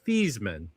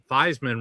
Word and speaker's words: Theismann: His original name was pronounced Feesmann. Huh. But when he was at Notre Dame, they said, "Well, Theismann rhymes with Heismann."